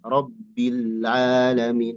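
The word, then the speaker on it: رب العالمين: Jangan ada penekanan karena lamnya sukun bukan tasdid. Diulang Ustaz. Iya. Yang ada penekanan itu ro ke ba. Rbi. Nah, itu penekanan. Pas bi ke lam itu enggak ada penekanan. Jangan ada rbil.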